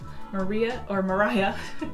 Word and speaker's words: Mariah: Mariah, it's spelled like Maria.